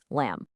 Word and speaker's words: lamb: And here's another one just like it, lamb. It follows the same pattern as words like comb or thumb. That B at the end, it's pretty much just for decoration.